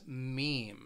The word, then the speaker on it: meme: with the internet but this word it just has one syllable meme meme and what it is